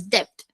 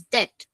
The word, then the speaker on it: debt: pronounce this word as depth. But the correct pronunciation for this word is debt. The B in this particular word is silent.